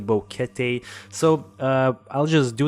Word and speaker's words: Boquete: mention the fact that we messed up with a pronunciation of bouquet we said boquete it's actually bouquet so uh i'll just